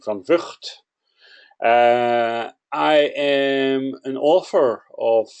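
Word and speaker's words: van Vugt: My name is van Vught, that's how I pronounce it. You can try pronounce it in your local language if you want to. Most people don't succeed, except for the Scots and the Chinese, who are capable of saying van Vught.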